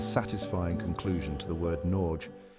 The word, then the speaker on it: Norge: of the Norwegian landscape think of the G as a gentle bridge between the no and the final e it's not entirely silent